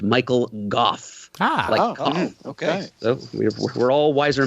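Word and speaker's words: Michael Gough: That final scene where Alfred, by the by, Wikipedia tells us that the actor's name is pronounced Michael Goff.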